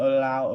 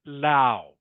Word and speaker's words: low: Okay, it's not Lao. All right, not Lao. It is pronounced just as if it was spelt L-O.